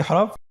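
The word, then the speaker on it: ح: পরবর্তী হরফ জিম পেশ জু, জিম পেশ জু, জি জু, জি জু। পরবর্তী হরফ হা। আমরা জানি হার উচ্চারণ কোথা থেকে হয়? কণ্ঠনালীর মধ্যখান হতে।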